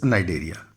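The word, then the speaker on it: Cnidaria: देखिए, नाइडेरिया जब लिखते हैं तो सी जो है इट इज साइलेंट होता है. तो कई बच्चे जो हैं वो इसका प्रोनाउंसिएशन के लिए कई बार पूछते हैं. तो इट इज नाइडेरिया, C silent है.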